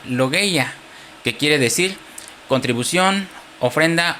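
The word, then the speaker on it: λογία: Es una palabra griega que se pronuncia logya, que quiere decir contribución, ofrenda o recoger ofrenda.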